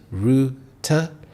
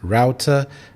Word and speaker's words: router: There are two syllables, router. The American English pronunciation is router, but in British English it is router, and this is a device that connects you to the internet.